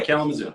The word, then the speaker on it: Kalamazoo: So Mike in Michigan, does the woman gotta be in how you say it, Kalamazoo? Yeah, Kalamazoo.